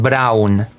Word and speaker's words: Braun: It's called like here B R A U N. Brown. There you go. Brown.